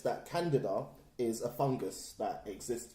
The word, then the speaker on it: Candida: No, because I heard that there's two pronunciations, the American and the British. Okay. And the British is Candida.